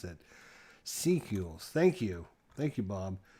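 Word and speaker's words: Secules: the name i just couldn't remember how to pronounce it sequels thank you thank you bob so the dolphins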